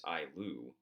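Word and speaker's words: ayllu: lands to families, and we call this the Ailu, if I remember pronouncing that correctly. It's Ailu.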